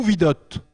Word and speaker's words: Vidot: en métropole c'est vid alors en métropole effectivement si vous prononcez Vidot on va pas me connaître donc bien sûr sur le continent européen ça sera vid et puis pour la